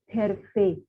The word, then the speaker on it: Hervé: On ne prononce pas H, H, Hervé.